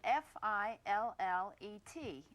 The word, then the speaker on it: fillet: The word that we use in describing fish is spelled f i l l e t and it should be pronounced fillet.